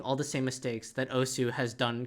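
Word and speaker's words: osu!: like o because that's that's the Japanese pronunciation you don't pronounce the U just like when you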